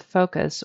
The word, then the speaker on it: focus: need to be careful that's focus with a long o focus focus we don't